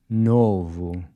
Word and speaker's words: novo: Novo. This O is a closed O.